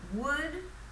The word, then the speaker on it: would: actually would make so would w-o-u-l-d sounds like wood so be careful because the english w you have to move your lips it's not ood so you have to push out first before wood um so wood and